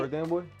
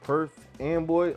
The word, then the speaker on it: Perth Amboy: Perth Amboy. Say it one more time. Perth Amboy.